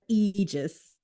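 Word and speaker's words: aegis: Regis fil them yeah kind of like him but Eis so it's kind of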